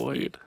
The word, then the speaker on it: Marcloid: Oh fuck, Marcloid. No, it's okay. It's how it's spelled. It's just Marcloid.